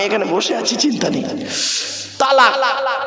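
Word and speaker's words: طلاق: না ভাব আমি এখানে বসে আছি চিন্তা নেই তালাক কি বলে শব্দটা কিন্তু তালাক নয় শিখে যান আজকে শব্দটা তালাক নয় শব্দটা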